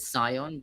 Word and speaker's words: scion: So, is it scion? Just the c is silent.